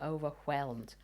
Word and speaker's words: overwhelmed: the people were overwhelmed we called him overwhelmed because you pronounced the h before the w and he made sure